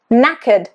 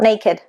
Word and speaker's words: knackered: No, new, knee, knackered, not naked, knackered.